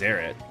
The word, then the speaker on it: Zeritt: It's pronounced Zerit? I mean, it's Zerit.